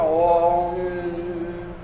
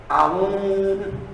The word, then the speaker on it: Aum: Mas na hora de escrever, se escreve Aum, para se escrever, mas se pronuncia Om. Como as pessoas eram simples, né? Muitas não sabiam ler e tinham de repetir o Aum, achavam que era Aum com a U-M, né? E não Om, e não se pronunciava